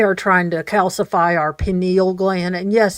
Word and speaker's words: pineal: pineal gland, and yes, it does sound like peen, but it is important. If he wasn't from Minnesota, he could pronounce it right. Well, I mean, why would you pronounce that word right? I would always emphasize the peen, and then enial would be lost.